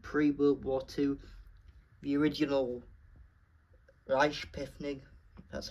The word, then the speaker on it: Reichspost: The original Reichspost That's how you pronounce it.